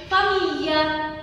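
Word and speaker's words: famiglia: تمام، وبنطقها كده جي ال اي فبتتنطق لي، لي ما بقولش لي بس بقول لي، لي زي فاميليا، فاميليا العيلة، فاميليا.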